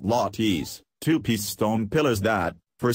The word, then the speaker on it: latte: It's a homage to the island's famous lattes, pronounced lattes, two-piece stone pillars that, for centuries, the indigenous Chamorros erected as the foundation of traditional buildings.